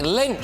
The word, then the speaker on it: Lynch: It is a shame for old Mick Lynch that his name rhymes with Grinch.